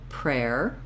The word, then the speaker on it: prayer: Okay, so once I have air, rare, I can add my P sound at the start. Air, rare, prayer, prayer.